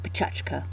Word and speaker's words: Pecha Kucha: they're Japanese and actually if I was pronouncing them more properly it would be petrushka it's a six minute